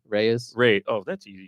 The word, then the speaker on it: Reyes: and how you say your last name Reyes Rey oh that's easy Reyes and you know your named after the plant